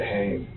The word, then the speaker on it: Hoehn: How do you pronounce that? We say it Hayne. Hane.